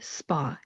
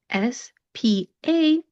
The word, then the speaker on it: spa: The word spa, S-P-A, it does not end with a W, but that vowel sound of that A does become an ah sound, spa.